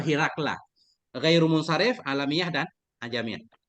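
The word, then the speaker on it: هرقل: Herakle ini cara bacanya macam-macam. Di sini kan kayak Dimash, Ustaz ya. Herakle, Dimashki. Ada juga yang membaca Harkil, Anna Harkil, Harkila. Tapi yang masyhur Hirakla.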